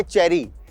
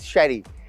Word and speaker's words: Cherie: और इस रेस्टोरेंट का नाम है शेरी या चेरी, ये हम पूछेंगे। वैसे correct pronunciation is शेरी, बट इसमें मैं आपको